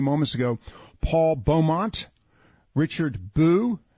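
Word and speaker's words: Bew: ago, Paul Beaumont, Richard Boo, or I think it's pronounced Boo, B-E-W, Graham Boyd.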